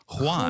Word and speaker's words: Juan: until now and Juan my wife has schooled me on how to pronounce this name Juan Juan okay so if I'm tickling your eardrums listeners that's because I'm pronouncing the name properly Juan from Colombia also 29.